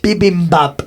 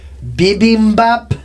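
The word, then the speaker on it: bibimbap: Bibbop. India. Nope. Spell that.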